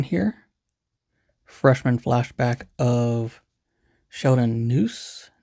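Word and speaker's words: Neuse: freshman flashback of Sheldon noose nuse that's how you say it got Pablo Lopez a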